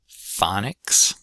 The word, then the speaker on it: phonics: phonics phonics Um stress on the first syllable and ah vowel there. And then again, for the second syllable, I'd expect most of y'all to transcribe it with an an ih. Probably why it's spelled that way with an I in the word as well. Um but I would take uh the schwa transcription there or the eh transcription, though I wouldn't expect to see it.